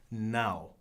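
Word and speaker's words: não: And how do you say no is now. It's a little bit more than N-O, like it is in Spanish. It's N-A with a squiggly over the A and an O.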